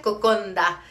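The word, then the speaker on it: kokoda: el título de esto es cocoda pero se pronuncia Cocona eh los villanos hacen unda su nd Así que si alguna vez están en fiji y ven eso en el menú pidan cocondo miren les quiero pedir perdón por todo el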